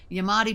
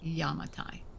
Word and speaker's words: Yamatai: I did call it Yamadi before, and that is not correct. It is pronounced Yamatai.